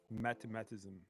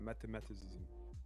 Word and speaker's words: mathematicism: Mathematism. Oh, yeah. The cart. Oh, it's that cardart. Yeah, mathematicism. I love that cardart. Mathematicism. Yeah, that's how you say it.